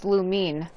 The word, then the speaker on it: Lumine: also found out that everybody's been saying lumen's name wrong her name isn't actually lumen it's lumine when ether said her